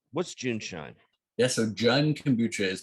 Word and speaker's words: JuneShine: champagne of kombucha's so is it john shine am i pronouncing it no it's it's june shine and we were going